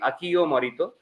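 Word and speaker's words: Akio Morita: Aki Right, Morito, though Aki is spelled as Akio, so Indian pronunciation would be Akio Morito.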